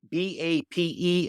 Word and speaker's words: BAPE: The Floridian franchise has announced that they've struck a deal with the Japanese designer brand BAPE, B-A-P-E, and we had a conversation to try to see exactly how to say it because Mr.